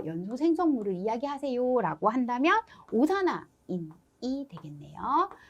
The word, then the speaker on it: 오산화인: 인을 재료로 해서 연소 생성물을 이야기하세요 라고 한다면 오산화인이 되겠네요. 자, 오산화이인이라고 읽고 싶지만 오산화인이라고 읽으시고, 자, 문제에서 다음 연소 생성물이 무엇입니까?